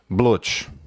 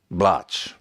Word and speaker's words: Blutch: It's a pen name Blutch or Blutch. They're both correct ways to pronounce it because I never make mistakes with pronunciation.